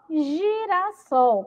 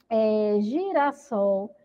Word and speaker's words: girassol: A palavra girassol, ela foi escrita aí, né, também com a letra G. Vamos pronunciar para ver o som? Girassol. Girassol. Ó, tem som de G, tá bom? Porque tá acompanhada da letra I, da vogal I.